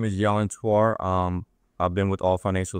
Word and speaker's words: Yelin Hwtar: I'm with Keller Williams Realty, and I have here our guest, Yelin Hwtar. That pronounce it right?